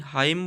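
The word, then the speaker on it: hymn: हाईमन नहीं, हाइम बोला जाता है।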